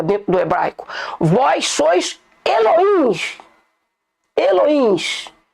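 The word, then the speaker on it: אלוהים: Mas não é essa a pronúncia correta dentro do hebraico. Vós sois Elohims.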